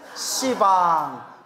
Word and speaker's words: 시방: 하면 어 이거 씨 듣는데이 그래서 이제 십자가는 발음을 어떻게 바꾼 거예요 시방 시왕 이렇게 바꾼 거 이제 알겠죠 십자에 그래서